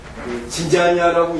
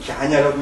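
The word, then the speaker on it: ज्ञान: 이건 바로 우리는 자꾸 진자냐라고 읽는데 뭐 원어는 갸냐라고 읽어야 되는데요.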